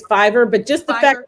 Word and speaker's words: Fiverr: Is that how it's pronounced, Fever? I think it's Fiverr, but just the Fiverr.